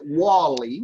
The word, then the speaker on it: Wall-E: I would pronounce it Wally because Wally is a nickname for Wallace, which is an American male name.